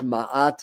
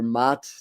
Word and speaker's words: Maat: Um the god goddess Maat or Mat depending on your pronunciation, the Egyptian goddess that's also about fairness, justice, and balance.